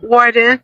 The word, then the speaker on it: Worden: I find it very difficult to pronounce this name. Rosen Warden. Warden Warden.